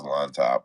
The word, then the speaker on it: Llontop: It is Llontop. I knew I was saying that shit right.